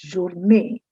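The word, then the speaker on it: journée: your me i know looking at the double ease you would be wanting to say your name but actually it's journey as if there were n a y like day you it's it's pronounced similarly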